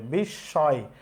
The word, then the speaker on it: বিস্ময়: তাহলে বিস্ময় এটার উচ্চারণ, মফলা উঠে গেছে, বিস্ময়, যেহেতু মফলা উঠে গেছে চন্দ্রবিন্দু হবে, বিস্ময়। বিস্ময় আমরা বলি না, বিস্ময় বলি।